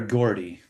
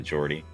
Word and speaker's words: Geordie: Jordy or Gordy? I think it's Jordy. Yeah. It's Was probably I saying Gordy, Gordy? but he just like he pronounces it Jordy.